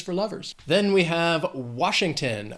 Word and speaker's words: Washington: Then we have Washington. 3 syllables, stress is on that first syllable, Washington.